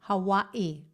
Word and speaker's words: Hawaii: Hawaii. You're supposed to pronounce it like that. Hawaii.